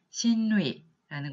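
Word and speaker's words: 親類: 그 다음에 있는 친류라고 쓰고 발음하면 신루이라는 것도 역시 마찬가지로 신속구나 신세기와 마찬가지로 전부 다 친척이라는 의미로 사용이 됩니다.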